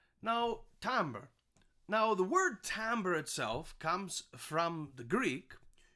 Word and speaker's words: timbre: a French word tombola that's why we actually say Tambor instead of timbre like it's phonetically spelled so we say it in the French way of Tom okay and now Tambor